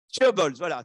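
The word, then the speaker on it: chaebols: So how you pronounce it? Whether you have your mask, or we don't understand. Huh? Chobols, voilà, chobols, voilà.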